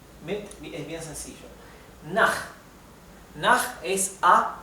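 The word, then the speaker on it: nach: es bien sencillo na naj es a o hacia bien na Recuerden que la ch del alemán se pronuncia como una J del español verdad na naj significa a o hacia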